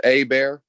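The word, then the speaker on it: Hebert: it's pronounced A Bear. A Bear, okay.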